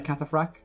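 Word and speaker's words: cataphract: I'll bring on a cataphrag is how you pronounce that yeah it'll bring our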